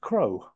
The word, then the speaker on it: CROSS: But Cross is actually pronounced Crow.